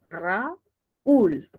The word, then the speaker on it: Raúl: también me piden segmentar Yo tengo dos sílabas Raúl correcto Y entonces es una palabra aguda y no debería llevar